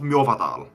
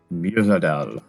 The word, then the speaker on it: Mjovadal: When you get to it, it will be called Mjovadal. Please spell that. And no, it's on there. It's on there. It is on there. It literally, the first pronunciation is literally like Mjolnir. Mjovadal.